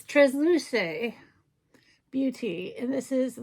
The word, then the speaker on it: Transluce: And then last but not least, I got schooled on how to pronounce this company. It's Transluce Beauty.